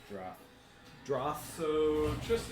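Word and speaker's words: Jrath: Droth. Spell that. Wrath with a J.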